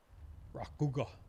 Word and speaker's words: Rakuga: The emphasis is in the first syllable. That's a tough one. Rakuga.